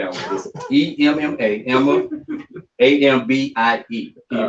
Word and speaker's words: Ambie: EMMA, Emma, AMBIE. Can you pronounce that for me?